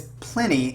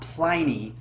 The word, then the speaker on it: Plini: And the reason I think it's Plini and not Pliny is because when I teach English to my Korean students, I always tell them when I'm talking about pronunciation.